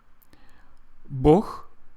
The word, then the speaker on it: Bog: Bog means God in Russian, but it is spelled B-O-G. in English, at least it's how it's transliterated, B-O-G, Bog. But Russian people pronounce it as Bog.